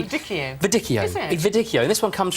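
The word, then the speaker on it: Viognier: how to say it I used to say viito viio but actually viio Vio Vio this one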